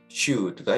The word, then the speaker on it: should: OULD로 끝나는 단어에서 LD가 이렇게 나왔을 때 L이 묵음인데요. 대표적인 예로는 could, would, 그리고 should가 있습니다.